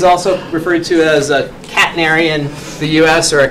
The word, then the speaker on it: catenary: First part of the word is like a pet that some of you may have. Catenary.